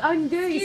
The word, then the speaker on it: andouille: Andouille sausage. Andouille sausage. Oh, andouille. Ah! Sorry. Of course, andouille sausage.